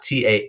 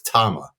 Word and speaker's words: Tama: Yeah, because it's not Tahma phonetically is Tama, right?